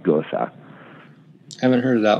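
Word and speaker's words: Gose: It's a Gosa. It's G-O-S-E. And it's not a goose, not G-E-U-Z-E. It's G-O-S-E-E. And I'm pretty sure it's pronounced Gosa.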